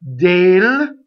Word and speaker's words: del: D-E-L. Dale. Closed. E. Dell is a computer company. Dale is this word.